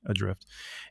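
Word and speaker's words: ADR1FT: It's a game called Adrift. And it's spelled for some reason with a number 1 instead of an I, Adrift.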